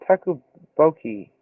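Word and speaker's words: 떡볶이: I told you how to pronounce it. Tteokbokki.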